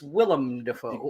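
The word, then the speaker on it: Willem Dafoe: to things so it's the weakened it's willem defoe gotta pronounce it correctly right so i it just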